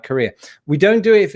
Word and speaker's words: Korea: to be a big wrestling fan never mind pronounce Korea Korea similar to the word Korea as in a